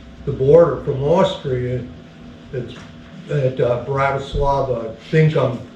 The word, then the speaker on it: Bratislava: we went across the border from Austria at Bratislava. I think I'm pronouncing that semi-right.